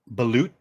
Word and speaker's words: balut: you guys know what balut is B like Beluga a whale it's a whale balute ba that's how that's how you Americans say it is this the um